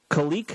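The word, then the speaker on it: Khaleke: know how to pronounce it we got a pronunciation guide kalique kalique hudson thank you thank you pronounce her guy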